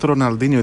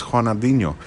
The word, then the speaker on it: Ronaldinho: oh it's haa it's Raa yeah you've been pronouncing it incorrectly all this time oh oh yes because it's not Ronaldinho it's hanino yes that's true okay so haa um thank